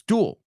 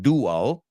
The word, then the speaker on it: duel: duel duel right it's it's duel it's one syllable it's not two it's not dual it's duel okay so again the perfect